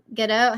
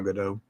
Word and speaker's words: Gadot: But Gal Gadot, how do you say your name? Gal Gadot. Gal Gadot. Is it that direct, like literal? Gadot? Mm-hmm. Like you actually say the T at the end?